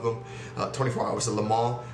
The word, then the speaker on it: Le Mans: 24 hours of le mans and yes it's pronounced le mans not le mans said it i almost i almost said it's